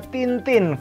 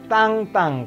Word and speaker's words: Tintin: tahu dong ini komik Jangan dibaca Tintin karena ini bahasa Perancis ini komik Belgia bukan komik Perancis bahasanya Perancis dan Jadi dibacanya tank-tank Karena i n itu Ang ya jadi tank-tank seperti itu yang contoh kedua